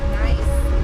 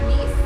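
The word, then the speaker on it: gneiss: here the type of rock is called nice or NE I heard it both face it's spelled g n e i SS a lot of people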